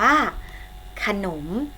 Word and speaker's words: ขนม: อีก ครั้ง นะ คะ ออก เสียง พยางค์ แรก เหมือน มี อะไร ถึง เสียง พยางค์ ที่ สอง ออก เสียง เหมือน มี หอ หิมะ นำ คำ นี้ อ่าน ว่า ขนม ขนม สังเกต นะ คะ